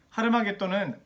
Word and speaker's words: 하르마겟돈: 아마겟돈의 정확한 히브리어 발음은 하르마겟돈입니다. 하르마겟돈은 하르라고 하는 히브리어의 산, 그리고 마겟돈이라고 하는 지명 해서 마겟돈의 산이라고 이야기할 수 있죠.